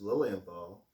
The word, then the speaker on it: Lilienthal: and it's scottish my last name is lillian ball and it's spelled l-i-l-i-e-n-t-h-a-l and it's german and jewish meaning lily of the